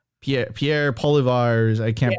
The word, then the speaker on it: Poilievre: side, you have I don't know how Pierre Poilievre. I can't pronounce his name. Poilievre.